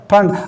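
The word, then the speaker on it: Pfund: देखिए पी इसमें साइलेंट है, फंड।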